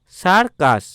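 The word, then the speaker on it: circus: Next দেখব সি আই আর সি ইউ এস, সার্কাস। তো সি এর পরে আই আছে বলে দন্তস্ব উচ্চারণ হলো, এবং পরেরটা দেখো সি এর পরে ইউ আছে বলে এখানে সি এর উচ্চারণ ক হলো, বোঝা গেল। তাহলে এর উচ্চারণ হলো সার্কাস।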